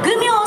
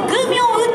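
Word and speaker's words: 求名: 正解は皆さんわかるかな、せーの、グミョウ。そうです、グミョウと読むそうです。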